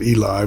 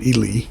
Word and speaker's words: Ely: in Ely Nevada as I said I was pronouncing it Eli but somebody from there says it's called Ely so anyhow yeah we're in Ely Nevada heading